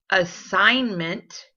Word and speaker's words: assignment: You should have found assignment, campaign, gnarl.